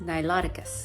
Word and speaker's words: Niloticus: Wrong pronunciation. It's pronounced Niloticus.